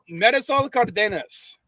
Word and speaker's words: Marisol Cardenas: I'm probably going to get smacked because I almost never pronounce it correctly, but it's Marisol Cardenas.